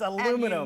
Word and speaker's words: aluminum: Australians stress the aluminium, 1 and 3, whereas the Americans stress the second, aluminum.